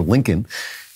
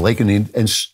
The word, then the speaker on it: Laken: He calls her Lincoln instead of Laken.